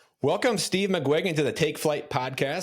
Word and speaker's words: McGuiggan: Steve McGuiggan. That's a tough one. So, okay, Gwig is how you pronounce the middle part of that?